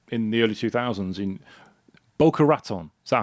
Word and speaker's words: Boca Raton: When you were um working in web design helping small businesses in the early 2000s in Boca Raton. Is that how you pronounce it? Boraton.